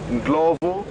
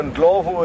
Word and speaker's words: Ndlovu: Elephant in Shangaan would be known as Ndlovu, which is spelled Ndlovu.